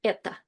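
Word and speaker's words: это: And in Russian, it's all one word eta. And it's written with o, but we pronounce it with like with the vowel reduction. So it's more like eta.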